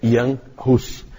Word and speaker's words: Jan Hus: E aí, então, é outra língua que a gente não conhece, não sabe como pronuncia, mas a pronúncia é Jan Hus.